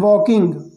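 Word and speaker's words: walk: यहाँ पर देखिए, यदि आप देखें, ध्यान से देखें, तो इसको मैंने क्या पढ़ा है, वॉक, इसमें एल साइलेंट है। ओके, इस तरह से आपको ध्यान देना है रीडिंग में। इसको हम पढ़ेंगे वॉ और किंग, वॉकिंग।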